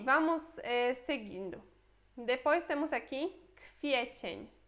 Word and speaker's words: kwiecień: Depois temos aqui kwiecień. Kwiecień. Olha que esse W a gente pronuncia como se fosse um F, né?